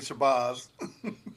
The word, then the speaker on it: Shabazz: today by author Shabbaz. Did I pronounce that right, or did I butcher that or Yeah, it's actually Shabbaz.